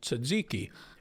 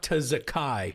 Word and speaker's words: tzatziki: had occasion to mention tzatziki and he pronounces it it's like Probably like a real Greek person would. no. It's tazakai or something insane. Like no one has ever pronounced it like that.